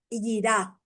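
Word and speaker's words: יראה: La palabra hebrea para temor es yirá, con Y, y termina con A, acento en la yirá.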